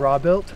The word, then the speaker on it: Robuilt: How do you pronounce that? Robuilt? Yeah, there Robuilt. You go. He's been Robuilt. Saying Robuilt, by the way. It looks like robot.